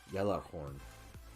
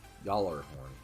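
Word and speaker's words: Gjallarhorn: The horn should technically be pronounced Yellarhorn. Yallarhorn. That sounds about right.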